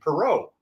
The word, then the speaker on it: Perrault: There was a champion racehorse named Perrault. Did not know that. My name should be. If we're actually pronouncing my name properly, that's how my family name is supposed to be said. But we Americanized it when we came from French Canada because we weren't